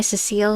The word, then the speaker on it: Cecile: Tales of the Abyss, how do you say his last name? Was it Cecil? I think it's Guy Cecile is how you... I'm pretty sure his last name is pronounced Cecile.